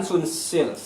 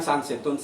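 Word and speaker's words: Sunsilk: dengan eh pelafalan sesungguhnya misalkan sunsil Sil Ya itu kan sansil tulisannya s u n s i l k ya tapi kenyataannya ya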